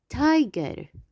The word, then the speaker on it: tiger: tiger. tiger. ما رح أحكي تاجير. tiger.